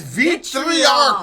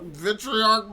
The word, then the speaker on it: Vitriarch: And this is Vitriarch. Vitriarch. Vitriarch. Vitriarch. I'm pretty sure is the way that the name the band is pronounced.